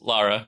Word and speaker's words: Lara: So Jor-El and his wife, Lara, am I pronounce it Lara? Yes, Lara.